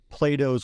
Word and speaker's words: Plato: It comes from Plato's work, Phaedo, or Phaedo, as it's variously pronounced.